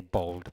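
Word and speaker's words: bald: Okay, bold. Pensate a Massimo Boldi.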